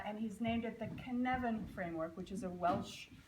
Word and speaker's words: Cynefin: a Welsh word um and it's spelled it looks like cnan so don't look at it when you say it or you say it wrong it's Canan it still takes years